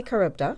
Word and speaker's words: CaribDA: Oh, we say CaribDA.